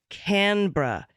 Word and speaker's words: Canberra: correction from Australia the capital of Australia is pronounced Canberra by Aussies thank you thank you very much